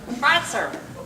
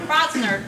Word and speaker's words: Crosser: Crosser. Not Crosner, Crosser.